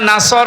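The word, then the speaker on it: نصر: এখানে সোয়াদ আছে, নাসর মানে সাহায্য, আর নুন সিন র নাসর মানে ঈগল পাখি। আপনি যদি মুখটা গোল করে শুদ্ধ করে উচ্চারণ না করেন, অর্থ আকাশ পাতাল পাল্টিয়ে যাবে।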